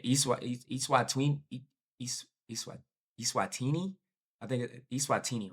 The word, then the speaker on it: Eswatini: The Eswatini Eswatini Eswatini, I think Eswatini, right? Is how it's pronounced.